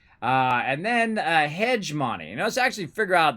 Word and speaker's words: hegemony: i think that's how you say it uh pronunciation there we go and we'll have it read it for us hegemony hegemony hegemony hegemony gemini i would have never guessed